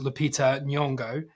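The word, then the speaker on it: Lupita Nyong'o: I've only recently um found out how to pronounce is Lita nongo and has got terminal cancer and first 10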